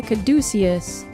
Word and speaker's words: caduceus: The caduceus. Or, is that how you pronounce it?